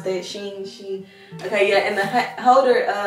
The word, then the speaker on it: Shein: Shein, how do you pronounce that? Shein.